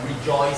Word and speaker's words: rejoice: So here joy here J O I C E not J O Y C E like rejoice. Second syllable. Yeah.